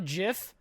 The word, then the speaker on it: GIF: ] is a gillingham my theory is that most people say gif and not jif is because when you're young and you see gif for the first time it looks most like gift because like gibb or